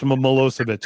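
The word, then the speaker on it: Milošević: It's spelled so different than it sounds, but it's Milosevic. It's the one that sounds familiar but doesn't look it.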